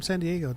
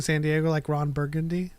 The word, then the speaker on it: San Diego: white person and and they're like I'm from San Diego don't you mean San Diego well I